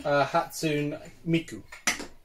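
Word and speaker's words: Hatsune Miku: How do you pronounce again, sorry? Hatsumiku.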